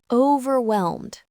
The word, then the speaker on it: overwhelmed: Overwhelmed. This word describes feeling like you have too much to handle. Overwhelmed. The stress is on the second syllable.